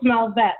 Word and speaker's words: Melvette: It's Melvette, like Corvette.